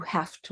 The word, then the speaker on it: have to: I have two daughters when we say have to it's pronounced more like an F you have to walk to work you